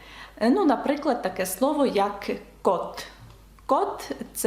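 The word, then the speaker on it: côte: дає звук О ну наприклад таке слово як кот кот - це берег чи узбережжя наприклад кот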